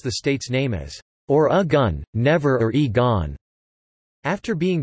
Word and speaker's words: Oregon: according to the Oregon Tourism Commission present-day Oregonians pronounced the state's nameís or a gun never re gone after being drafted by the